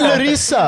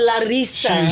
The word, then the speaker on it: Larissa: world because we have Larissa on the pod. Larissa. It's Larissa. No, you said Larissa. It's Larissa. She put Either roll the R's or you don't say it at all.